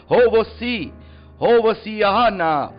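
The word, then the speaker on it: הושיעה נא: और हिब्रू भाषा में इसको इस तरीके से प्रोनाउंसिएशन किया जाता है, हो वो सिहाना, मतलब यहोवे, मतलब परमेश्वर यहोवे तू हमें बचा, परमेश्वर यहोवे हमें तू बचा।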